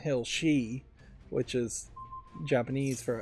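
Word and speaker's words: 四: they didn't want to call it Silent Hill Shi, which is Japanese for F, but no, Japanese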